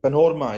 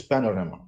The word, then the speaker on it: panorama: executive and it's again panorma is what normally people say it's Panorama Panorama uh this is not